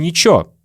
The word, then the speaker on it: ничего: Вместо слова «ничего» мы часто говорим «ничего». Как дела?